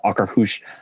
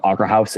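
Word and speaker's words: Akershus: They pronounce Okrahush. I I've always called it Okra House.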